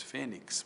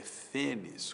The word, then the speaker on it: fênix: Muita gente diz fênix, mas a pronúncia erudita é fênis com X no final, látex.